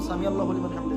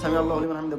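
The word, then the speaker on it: سمع الله لمن حمده: আইন ওইটা, এটা জেনে রাখবেন। আইন উচ্চারণ করছেন আপনি, আইন একটু শক্ত করে, সামি আল্লাহু লিমান হামিদা।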